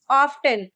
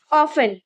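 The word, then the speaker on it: often: इस वर्ड को most of the people pronounce as ऑफ्टन। ज्यादातर लोग इसको ऑफ्टन बोलते हैं, बट the actual pronunciation of the word is ऑफन।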